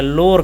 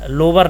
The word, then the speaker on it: LOWER: जब आप लो कहेंगे लो की स्पेलिंग होती है एल ओ डब्लू और लास्ट में जुड़ा है ई आर तो इसको क्या हो गया लोर कहते हैं ठीक है लोर लोवर नहीं कहते हैं ठीक है लोर